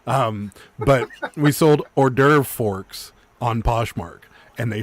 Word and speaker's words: hors d'oeuvre: fancy name for appetizers we pronounce it wrong on purpose and i can't i always forget we pronounce it horse divorce um but we sold hors d'oeuvre forks on poshmark and